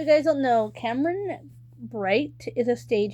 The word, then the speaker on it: Bright: Cameron Bright, and I pronounced the B in his last name because I want to pronounce it as right. I want to try to say right, but it's Bright.